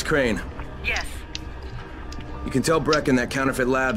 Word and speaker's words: Crane: the video store no my name's crane crane crane rhymes with train and brain and sane and grain and rain and plane and the other kind of plane and can i come